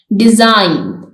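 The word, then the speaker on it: design: इसमें B silent है डिजाइन इसमें जी साइलेंट है थम इसमें बी साइलेंट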